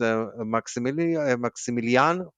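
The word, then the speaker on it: Maximiliano: Um, and another interesting thing that I saw on Twitter is Maximilian. That's how you pronounce it.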